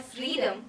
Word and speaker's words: fREADom: In fact, isn't it strange that our show is called Freedom but it's spelled with an A?